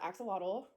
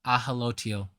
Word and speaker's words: axolotl: Alright, so the second card is the Axolotl, Regeneration. That's not how you say the word. The word is ahalotil, not axolotl.